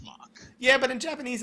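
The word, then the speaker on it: Mhach: city of mock I really prefer calling it Maha even though I'm not Japanese we we we've determined the name I know determined the pronunciation it's Mach yeah but in Japanese it's Maha so like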